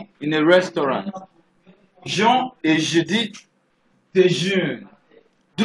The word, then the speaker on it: déjeunent: Jean et Judith déjeunent. Do not forget, I said the ENT in a verb is always silent.